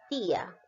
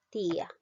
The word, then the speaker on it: tía: esdrújulas y sobres rúcula por ejemplo la palabra tía no observamos aquí hay dos vocales que son diferentes una vocal cerrada y una abierta tía te das cuenta y ahora vemos cuál suena más ti a la vocal